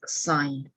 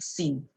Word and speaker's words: sine: So when you see this button, right, we pronounce it as sign. So not the common one that people will think sin. It's not a sin. Okay, so we call it sign.